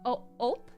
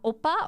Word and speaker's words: ope: So I said ope, okay, ope. It's pronounced ope, not opa or ope. It's ope.